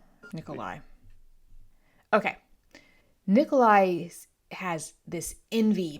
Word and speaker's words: Nikolai: And Andre is the model Soviet citizen whereas Nicolay is not Nikolai. Hold on. I got to find out how to pronounce this because my brain wants to do say both. This is Barack Obama. Nikolai.